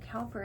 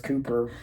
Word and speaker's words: Cowper: I don't know why Cowper is pronounced Cooper. And I guess I don't even really know that it is. But I've just always been told it's not Cowper, it's Cooper.